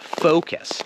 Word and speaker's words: focus: focus that sounds terrible it's focus focus not only does it